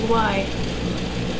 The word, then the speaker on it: Lyran: The Lyran. Lyran. Yeah, I'm saying it right.